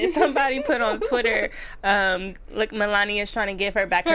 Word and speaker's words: Melania: But the part when Donald Trump and Melania come up. Did I say her name right? No, Melania.